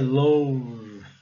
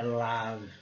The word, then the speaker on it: love: Teoricamente seria love. Claro que não é. É love.